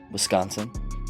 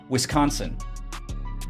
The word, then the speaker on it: Wisconsin: Wisconsin. How do you say it? Wisconsin. I say Wisconsin. So you two say whisk and then onsen, and I say whis and then consin.